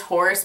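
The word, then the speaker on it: Hoarse: he's also on this the next song is horse but it's not like spelled like horse it's h o a r s e uh but this is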